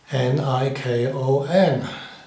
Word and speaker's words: Nikon: n i KO n so it's only got one middle consonant so according to that rule it should the the I should be long n i k o n a vowel one consonant another vowel that makes the first consonant say its name the letter i Nikon as the Americans and Canadians say it but the English and